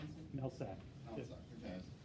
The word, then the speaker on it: Mehlsak: Mehlsak, how do you pronounce it? Mehlsak.